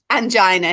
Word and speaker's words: angina: section, or there's like Angina Hill and things like that, aren't there, at Heaton Park? Yeah, there is. Pronounce that properly. Make sure you say angina. Angina, that's right. Make sure, like Regina, make sure there's no